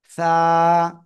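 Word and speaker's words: ث: জিহ্বার আগা, উপরের 2 দাঁতের আগায় লাগাবেন, লাগিয়ে নরম আওয়াজে আপনাদের উচ্চারণ করতে হবে। সা, একসাথে।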